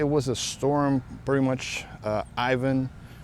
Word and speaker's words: Ivan: a storm pretty much Ivan or Yvonne depends on if you are uh talk about it in English or Spanish we would say it here in papiamento Ivan like we would pronounce it like in Spanish and then that one